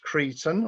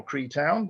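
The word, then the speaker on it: Creetown: there that's gatehouse uh that's cretan or cree town depending on your pronunciation this is car sleuth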